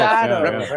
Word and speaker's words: reposado: Reposado.